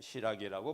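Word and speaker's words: しらぎ: 그래서 신라 유적을 보게 되면 제가 마음대로 한 것이 아니라 이것은 상인주어 신보에 실린 것인데 여기에 카라카미 시라기 진자, 시라기라고 하는 것은 신라를 시라기라고 발음을 하게 됩니다.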